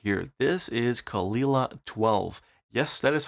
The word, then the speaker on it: Caol Ila: is a trans week right here this is kalila 12 yes that is how you pronounce it kalila 12 i heard plenty people say kalila 12 but it's actually kalila Kol Lila 12 it is a malt from ila again